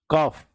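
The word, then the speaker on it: calf: काफ, L silent है, फिर bridge, D, फिर फ्रिज, फिर डी साइलेंट है, ठीक है?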